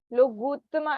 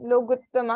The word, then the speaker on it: लोगुत्तमा: और एक और बात, आपका लोगुत्तमा आ रहा है, मतलब ग में छोटी उ की मात्रा है, तो आपका थोड़ा बड़ा उ वाला उच्चारण आ रहा है, ऐसा के चत्तारी लोगुत्तमा, लोगुत्तमा ऐसा नहीं, लोगुत्तमा, अरिहंता लोगुत्तमा, सिद्धा लोगुत्तमा, साहु लोगुत्तमा, केवली पण्णतो धम्मो लोगुत्तमो।